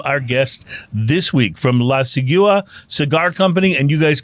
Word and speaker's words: La Sigua: Yeah, so it's pronounced La Sigua.